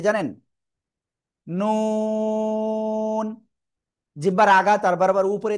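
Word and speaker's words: نون: নুন। জিহ্বার আঘাত তার বরাবর উপরে তালুর সাথে লাগিয়ে চার আলিফটা নিয়ে আমরা এ অক্ষরটা উচ্চারণ করব। নুন।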